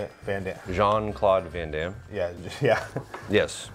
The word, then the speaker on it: Van Damme: Van Damme.